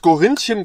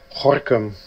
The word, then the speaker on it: Gorinchem: Haben wir als erstes schon mal mitbekommen, dass Gorinchen gar nicht Gorinchen heißt, sondern es wird... Ist aber verniedlicht, ich finde es süß. So. Ja, wird nämlich anders ausgesprochen.